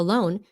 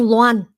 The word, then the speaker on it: loan: But anyway, so he's talking about a loan and he kept on saying law and I said, "What? Lan, it's a name." You pronounce it loan.